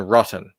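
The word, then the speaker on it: Rot10: Hall I don't know he's rot 10 as in rotten right okay rotten but spelled rot 10 and then Glory okay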